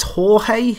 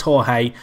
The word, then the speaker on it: Jorge: it's this guy who his name's George I believe it's Jorge in Spanish which I guess is how it's said in Brazilian 2o because brazilian's Portuguese kind